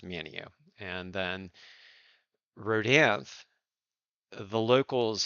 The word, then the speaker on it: Manteo: confusion is not enough for you um manio is spelled m-a-n-t-e-o so you could pronounce it Manteo if you're reading it but if you're local here it's Mineo and then rhodev the locals here call it